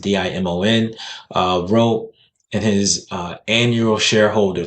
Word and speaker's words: Dimon: And this is from JP Morgan Chase CEO Jamie Dimon, I believe that's how you pronounce it, Dimon, wrote in his annual shareholder letter.